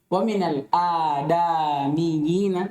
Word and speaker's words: ومن الآدميين: ومن الآدميين Yang benar antum bacanya wa minal adamiyina. Yang benar apa? Adamiyina.